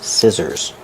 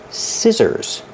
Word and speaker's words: scissors: Pronunciation, scissors. Use the short I like this is. Scissors. The SC makes the S sound with no voice. And the two S's in the middle make a zebra sound.